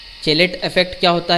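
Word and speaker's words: chelate: चेलेट effect क्या होता है, कुछ लोग इसको जो है प्रोनाउंस इस तरह से केलेट्स भी करते हैं, तो प्रोनाउंसिएशन में थोड़ा सा डिफरेंस हो सकता है।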